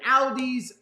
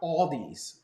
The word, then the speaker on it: Aldi: they're gonna build an aldi's oh i'm sorry i'm sorry let me let me pronounce it correctly it's called it's pronounced all these all these not aldi's people get mad at